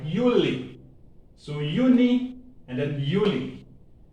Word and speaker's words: Juli: And then July is pronounced the same Y, Juli.